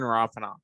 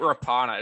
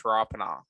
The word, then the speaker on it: Rapana: There you go, Jordan Rapana. So it's not Rapana, it's Rapana, which I said originally, so go me.